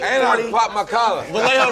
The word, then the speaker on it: Vallejo: Vallejo rhymes with say how.